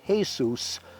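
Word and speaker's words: Jesús: It was Jesus, pronounced Jesus, a Hispanic worker there to do some roof repair.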